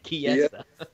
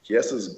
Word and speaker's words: Chiesa: Chiesa. Boom. Well, it's not spelt like key, is it? It's spelled like chi. No, it's not.